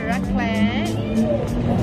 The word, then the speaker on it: raclette: Is that the correct way to pronounce? Raclette.